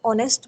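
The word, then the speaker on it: honest: इसमें H silent है। लेकिन जब हम इसको पढ़ते हैं तो ऑनेस्ट बोलते हैं तो इसके साथ भी जो है वो एन लगेगा।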